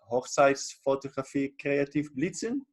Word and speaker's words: Hochzeitsfotografie kreativ blitzen: I think it's called like Hochzeitsfotografie kreativ blitzen. Is that the right pronunciation?